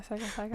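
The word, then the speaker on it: Sekai Taikai: Yeah, Saikai Taikai.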